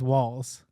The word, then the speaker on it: Waltz: Waltz, like the dance, but the T is silent. So sorry. My name was Walls, like the dance, but the T is silent.